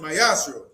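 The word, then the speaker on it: מעשר: Means tenth in Hebrew and is pronounced mayashro.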